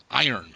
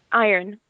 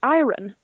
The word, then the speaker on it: iron: but the Swedes in my close community to pronounce the word iron correctly iron okay iron yeah because it's spelled ir o n right which makes me think it should be pronounced ayran which makes sense and they're like no but